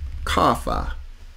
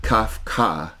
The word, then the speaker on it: Kafa: Well, the next one is the Kafa. Kafa. That's another one in the song when they say in the Alabay Yetha song. It's not Kafka, it's Kafa. Kafa, two syllables.